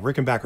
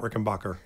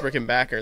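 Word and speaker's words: Rickenbacker: that's me I can't I can't say backer for some reason I I say both I think I say both Rick and Backer yeah Rick and Backer is what I usually say not Rick and Bacher see it's a tricky one because that one's that one's actually kind of confusing because the family was German but they came to America and like Americanized the name so they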